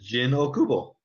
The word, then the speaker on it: Jin Okubo: Jin Okubo. That's correct. My name is Jin Okubo.